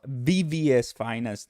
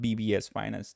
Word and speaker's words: VVS Finance: yes it is bvs VVS Finance not BBS Finance thank you for all